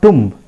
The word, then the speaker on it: tomb: that is called tomb tomb not tomb it is pronounced as tomb try to understand right